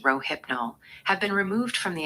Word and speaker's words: Rohypnol: Kurt Cobain, Reuters International, FDA prohibi g all forms of rohipnol pronounced rohipnol have been removed from the acceptable drug list by the United States food and drug administration.